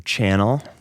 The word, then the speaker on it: CHNNLL: I lead a band in Chicago by the stage moniker CHNNLL. But not spelled like channel.